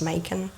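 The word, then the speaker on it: Macon: to M Georgia and at first when I saw it cuz it's like m o o n I was like mock on mock how do you say this it's Mak it's Mak it's Mak so I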